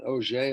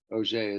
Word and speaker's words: Auger: This electron, which is ejected in this manner, is called an Auger electron. This is called the Auger process. Auger is French, obviously, pronunciation. Doesn't have anything to do with orange juice.